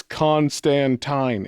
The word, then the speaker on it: Constantine: In the in the actual comic in one issue, he was like, "It's Constantine." And he like rhymes with wine.